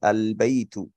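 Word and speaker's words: البيت: রাখবো একটু খেয়াল করি যখন বা দিয়ে কোন শব্দ কোন কালিমা শুরু হবে তখন আলিফ লাম যুক্ত হলে আলিফ লামটা উচ্চারিত হয় আমরা কি বলি আলবাইতু আলবাই তো এখানে কিন্তু এই লামটাকে আমরা উচ্চারণ করছি কিন্তু মনে করেন যে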